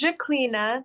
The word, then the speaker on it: Zhaklina: I'd really appreciate that my name is Jacina that's spelled z h a k l i n a and is also my